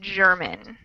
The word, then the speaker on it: German: So we have GER in both, but one is a soft G, German. We call that a soft G. And the other is a hard G, Gertrude.